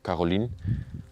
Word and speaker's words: Caroline: Annelies and Michel, the parents of Caroline, I should call it, I should pronounce it in French actually, Caroline, left it behind without notice, packed their bags and never came back.